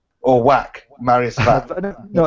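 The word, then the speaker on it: Wach: Also, you're pronouncing it wrong. Or Whack, Marius Vac. No, it's Vac, I think.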